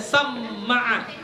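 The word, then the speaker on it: سمّع: Wa ghairuhuma, dan selain mereka berdua, samma'a bi fathil mimil musyaddadati, dengan memfathahkan mim yang bertasydid. Jadi bacanya samma'a, ya.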